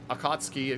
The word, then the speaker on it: Akatsuki: We got an Akatsuki, apparently is what I've been told. Is the proper pronunciation.